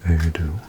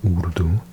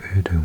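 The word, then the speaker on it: Urdu: Um, also, well, in Erdo, it's pronounced udu with a oo sound, udu. An Indian friend of mine said, the first time she moved to Britain, someone said to her, "Oh, do you speak erdom?" And she was like, "What is this random language I've never heard of, Erdo?" And then she realized they were trying to pronounce Udu.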